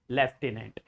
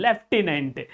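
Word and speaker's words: lieutenant: There is no F actually there is no F but you will find the sound of F in this word in this particular word there left inent we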